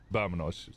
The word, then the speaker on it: vámonos: It's with a V, but the way that you pronounce the V is like a soft V, so it would be Vámonos.